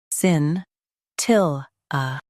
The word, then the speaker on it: scintilla: sin til sin til a Emphasize til and soften a.